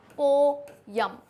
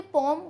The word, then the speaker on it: poem: इसका प्रोनाउंसिएशन करते आए हो पोयम, which is quite not correct भाई. ये अच्छा नहीं है प्रोनाउंसिएशन. इसकी जगह बेटा अपने को क्या कहना है, सही प्रोनाउंसिएशन पो य नहीं होता है. मैं तो बहुत ही सिंपली बताती हूँ यार, य की जगह बेटा थोड़ा अ लगा दो. तो नॉट एग्जैक्टली पोम, वो पोम पोम भी